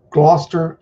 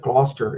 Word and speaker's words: Gloucester: John Turnbull from Gloucester, UK. And I learned how to pronounce it Gloucester instead of Gloucester, like most Americans do.